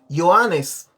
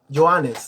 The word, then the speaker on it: Johannes: Yo les voy a decir cómo se dice Juan en griego. Se dice Johannes. Johannes, ¿no? Como en alemán, ¿no? Así se dice también Juan.